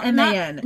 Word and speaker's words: Garman: It looks like that'd be a hard G. It's Garman. Not Garmin.